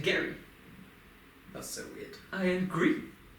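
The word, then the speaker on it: Gerry: e r r y g e r r y yeah Jerry but he pronounced it Gary that's so weird I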